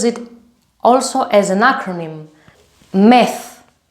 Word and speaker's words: ΜΕΘ: METH. METH. This is the pronunciation. METH.